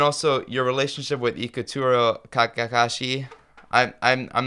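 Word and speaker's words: Kakehashi: and and and also your relationship with ikuro Kakashi I'm I'm I'm not pronouncing that correctly I know but you're you're pretty close Okay Kakashi you got it Kakashi okay uh we we became friends in 1969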